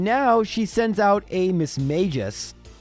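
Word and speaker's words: Mismagius: she sends out a Miss Mages or Miss magius apparently that's how you're supposed to pronounce it but we're not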